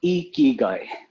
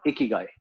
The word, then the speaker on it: ikigai: to know what is the correct way to pronounce this term spelled as i-k-i-g-a-i a key guy it's called e key guy key guy okay yeah not not icky guy it's icky what would it be well it